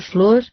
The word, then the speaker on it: Flower: Observo, finalmente, que meu nome Flower, pronunciado Flor, como foi ditado a primeira vez, corresponde ao modo pelo qual o pronunciavam os familiares de meu pai.